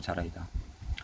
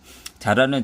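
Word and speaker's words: Zara: 그런 트렌드라든지 스페인에서 알파벳 G는 S음에 가깝게 발음되기 때문에 현지 발음으로 하면 사라라고 적어야겠지만 한국에는 익숙한 대로 적기로 하자. 자라는 1975년.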